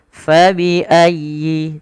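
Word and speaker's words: فبأي: Fabiayyi. Tekan ya-nya dengan lembut karena dia huruf lin.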